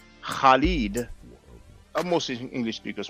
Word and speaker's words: Khalid: And for Arabic speakers, it's the sound that you have in the name Khalid.